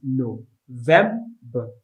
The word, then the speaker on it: November: The next one is November. The stress is on the second syllable, November. Vem is where the stress is. So don't forget, it's no. It's November. It's spelled November.